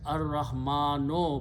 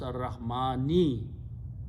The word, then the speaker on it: Ar-Rahmani: After that is Ar-Rahmano, but we pronounce Ar-Rahmani.